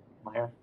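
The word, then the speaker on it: Maier: How do you pronounce that? Meyer.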